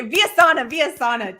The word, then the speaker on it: Villasana: Okay, Vyasana, dang it. Okay, so Vyasana. is spelled just how it sounds, and then Villasana.